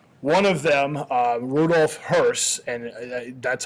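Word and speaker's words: Höss: justice uh so one of them uh Rudolph hurse and that's how you pronounce his name it's not hos it's hurse ruolph Hur who was the comant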